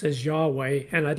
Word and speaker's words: Yahweh: actually the Holy Name Of God which we pronounce as Yahweh and I'd like to talk about that a